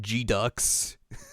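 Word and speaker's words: GQuuuuuuX: Oh, the new Gundam game that's like the name is like G Ducks. But it's spelled GQ 6U's and then an X.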